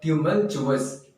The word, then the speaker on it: tumultuous: इसका जो प्रोनाउंसिएशन है वो है ट्यूमल्चुअस।